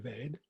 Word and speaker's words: Veda: And the word Veda itself, Veda as it's spelt and Ved as it is commonly pronounced, means knowledge.